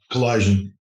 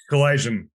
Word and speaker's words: Kalaydjian: guest with us uh Anton how do you pronounce it your last comment Anton Collision Collision Collision Anton uh were you listeners tuning in to